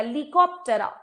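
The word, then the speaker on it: Plecoptera: Odonata में लीकोप टेरा P will be silent P को pronounce नहीं किया जाएगा लिकफ टेरा कौन आता है इसमें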